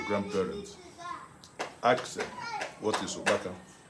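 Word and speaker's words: ukpaka: Ask them, what is opaka? Opaka is spelled U-K-P-A-K-A.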